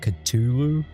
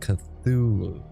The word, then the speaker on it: Cthulhu: uh called Call of I was calling it Culu or or whatever Culu or whatever, but it's actually pronounced and and I can thank AniO for this. It's actually pronounced Cthulhu.